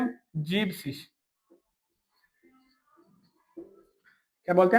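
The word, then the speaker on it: siebzig: जीबसिस।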